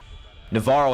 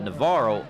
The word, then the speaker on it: Navarro: Navarro head coach Les Goad met with LaVernia coach Bo Robinson before the game. By the way, some fans call it Navarro, others Navarro.